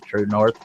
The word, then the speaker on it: TruNorth: Again, it's spelled TRUNORTH, True North, without the E on True, and it's all one word, True North.